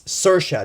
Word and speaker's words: Saoirse: and she was telling everyone how her name is spelled out it's Saoirse not see your shot I thought it was Saoirse but it's Saoirse anyway um not seeing Brooklyn